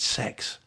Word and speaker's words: CeX: call it CeX right apparently you pronounce it sex I assure you doesn't